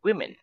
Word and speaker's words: women: of woman is women we pronounce this like wi women we say one woman